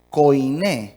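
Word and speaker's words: koiné: griega es la palabra Coin Coin con k o i n y acento en la e Coin Qué significa portador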